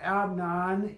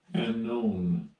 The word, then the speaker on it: Amnon: So Amnon is this is how you pronounce his name. Strong's H515. Amnon. Amnon.